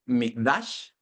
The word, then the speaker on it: mikdash: La palabra santuario, que es del hebreo mikdash, mik como de micrófono y doble D, acento en la A-S-H, mikdash, por ahí lo va a escribir mi esposa.